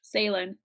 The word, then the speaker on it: Salem: on the id badge salem salem not at all rhyming with phelan no not at all